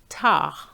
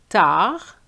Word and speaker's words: tard: And the same for the D of late, tard.